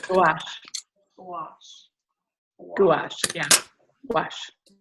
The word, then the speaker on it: gouache: Gouache? Gouache. Gouache. Gouache. Yeah. Gouache. It sounds like wash with a G in front of it. Gouache. Yes. The O-U-A makes the wash sound in French.